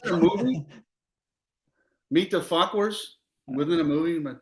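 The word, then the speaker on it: Fauquier: Falkwer.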